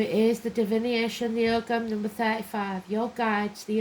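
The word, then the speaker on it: Ogham: It shows a symbol called Ogam, pronounced Oam or Oam, which is the early form of Irish writing.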